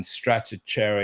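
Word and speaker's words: Stratechery: right it's interesting uh how you pronounce the the the name of the publication Steve Gilmore has trouble with it as well but it's Strater Strater straty rather than stry um yeah no this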